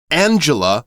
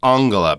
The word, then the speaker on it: Angela: one thing about that Angela would be the English pronunciation of that name for M Merkel uh we're going to go with Anga because I believe that's closer to the German pronunciation you might hear people